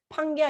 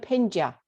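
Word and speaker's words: Pangaea: 그거를 뭐라 부르냐면 판게아. 원래 이제 우리가 그 영어를 판게아 이렇게 읽긴 하지만 원래는 정확한 영어 발음은 판게아 이러면 아무도 못 알아들어요. 뭐냐면 펜지아 이래야 돼요.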